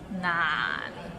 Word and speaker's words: 難: So it starts with n and ends with another n. 難 and it's in a low tone, so 難. Practice and you can get there. 廣東話唔難.